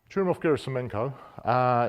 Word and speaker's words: Churyumov-Gerasimenko: Churyumov-Gerasimenko.